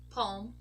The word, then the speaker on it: palm: another group where a group of words where we also do not pronounce the letter L are these words over here balm as in lip balm bomb calm Palm song yes guys we